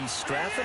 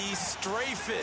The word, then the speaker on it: Strafen: It was held in mid-December, and your winner, I.B. Straffen, or is it I.B. Strafen? You've got the pronunciation guy. I.B. Strafen. Strafen. My bad, Mr. Strafen.